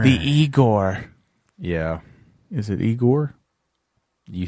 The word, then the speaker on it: Igor: yes man Master the eigor yeah is it eigor you said it right Egon I hate you